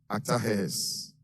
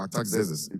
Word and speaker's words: Artaxerxes: the personal cupbearer to King Artaxerxes, or Artaxerxes, wherever you want to pronounce it.